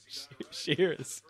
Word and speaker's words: Shirras: How do you pronounce that, Grant? Shirras.